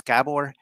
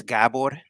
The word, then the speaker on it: Gabor: very lucky and and introduction my name is gabor actually it's gabor like a pronunciation but i'm used to like if you're